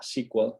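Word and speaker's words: CQL: clínica que se llama SQL, se pronuncia igual que el SQL de las queries de las bases de datos, pero se escribe distinto, es con C, SQL, CKL.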